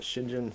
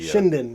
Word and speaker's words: Shinden: But my wife got me is it the Shinjin? I always forget how you say it. It is the Shinden.